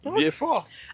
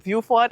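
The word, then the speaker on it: Vieux Fort: V4. And now that I know that Shane, personally, I could never go back to saying viewfort. I'm going to stick with V4.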